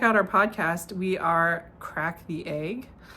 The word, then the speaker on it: craic: So if you want to check out our podcast, we are Crack the Egg. Crack spelled like this, CRAIC.